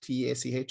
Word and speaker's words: Teach: So Teach, TACH, is house in Irish, and Solas is light.